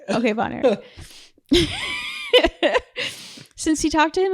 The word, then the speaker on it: Von Erich: Von Erich. Okay, Von Erich.